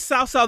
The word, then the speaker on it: Cao Cao: I'm actually pronouncing it badly, but it's Cao Cao. It's like TS. It's kind of a TS sound.